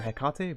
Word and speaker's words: Hecate: I was just looking this up because I was like, is it Hecate or Hecate?